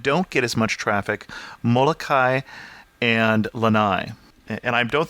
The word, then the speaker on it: Molokai: get as much traffic, Molokai and Lanai. And I don't think I'm quite saying that right. You're supposed to pronounce every vowel, right? So it's Molokai?